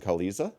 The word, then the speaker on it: Queliza: my name correctly that would be wonderful Kalisa Kalisa Kalisa Kalisa like at 2ks Kalisa like